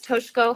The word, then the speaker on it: Toshiko: To the listeners, my name is Toshko. It's pronounced like the I is silent.